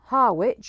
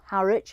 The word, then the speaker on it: Harwich: So we're going from Harwich, or Harwich, however you want to pronounce it, and we're getting the ferry over to the Hook of Holland.